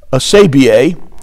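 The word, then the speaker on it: ἀσέβεια: Now, the Greek word there for ungodliness, asabia, is how you pronounce it, means a state of opposition to the rule of God.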